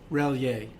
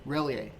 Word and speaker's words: Relyea: Relyea. Relyea.